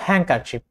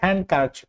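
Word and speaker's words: handkerchief: অথবা হ্যাঙ্কারচিপ, হ্যাঙ্কারচিপ, হ্যাঙ্কারচিপ, এটা কিন্তু হ্যান্ডকারচিপ হবে না, হ্যাঙ্কারচিপ।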